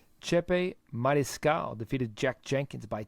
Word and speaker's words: Chepe: Chepe. Chepe Mariscal defeated Jack Jenkins by TKO via arm injury.